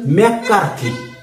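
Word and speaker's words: McCarty: त्याच्यानंतर पुढे आपल्याला सांगितले की सर्वसाधारणपणे 1944 साली ऑस्वर्ड नावं नीट लक्षात ठेव ऑस्वर्ड एव्हरी, दुसरं आहे मॅकमिलन मॅककार्थी स्पेलिंग प्रमाणे उच्चार करायचा आहे आणि तिसरा आपल्याला दिलेले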